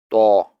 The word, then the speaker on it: ط: However, in to, some part of the middle tongue also touches the gum line to make it a thicker sound.